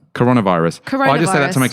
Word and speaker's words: coronavirus: wrong all this time so you're saying it with a short o coronavirus I just have to